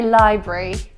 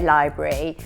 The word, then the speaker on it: library: I would say library. Library, yeah, I'd say library. Some people say library, but I don't think that sounds right. I think it is library, certainly the British way. Yeah, at least in our part of the country, library. And it's certainly not, and it's certainly not. Certainly not. Surely not. It's certainly not library, because it's got the bruh.